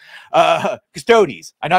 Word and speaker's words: Custodes: look how it's pronounced it does look like it would be custodis like adeptus custodis but adeptus custodes and then everyone just says custodes can we get another